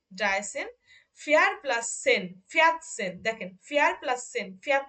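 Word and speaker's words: vierzehn: আচ্ছা, তাহলে দেখেন, এখানেও দেখেন আপু, এখানে খেয়াল করবেন, এখানে কিন্তু দেখেন আগের পরে সেন আছে বলে এটার উচ্চারণ হচ্ছে ফিয়াত সেন, ফিয়াত সেন।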